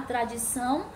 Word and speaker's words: tradição: Tradição, números de sílabas, trissílaba. Sílaba tônica, tradição. O são é a sílaba tônica, então ela é oxítona, tá? Porque é a última sílaba.